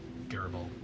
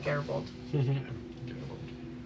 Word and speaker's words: Garibaldi: Is it hard G or soft G? Garibaldi. Hard G, Garibaldi.